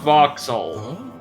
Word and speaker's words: Vauxhall: Vauxhall. Vauxhall, okay. Interesting. Greetings Or again. Vauxhall, if you want the British pronunciation.